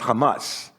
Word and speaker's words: Hamas: And it's an acronym that has the HMS words, and they put a couple of A's in there to make it pronounceable, so now it's known as Hamas.